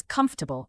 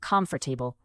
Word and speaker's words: comfortable: It's comfortable, not comfortable. Try blending the syllables.